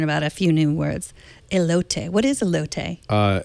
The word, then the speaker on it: elote: Do you know if I pronounced that right? Elote. Elote. Thank you. Elote.